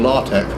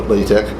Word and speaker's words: LaTeX: is layered tap but I hear it one side saying la tech and someone else it latex either yesterday so I'm not very sure the official pronunciation but I've always called it lay tech why that as a